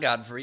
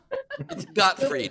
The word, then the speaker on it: Gottfried: pronounce god free and it's not godfrey it's god huh gottfried gilbert got free told